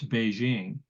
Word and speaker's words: Beijing: and now it's Beijing because ping was how early um I guess the English were pronouncing the the Chinese word and then after a while they realized well Beijing is is closer to the way the Chinese pronounce it so they changed it